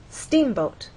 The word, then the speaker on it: steamboat: In steamboat, you will either look in a dictionary and see that the first syllable is stressed, or hear people speak and they'll say steamboat.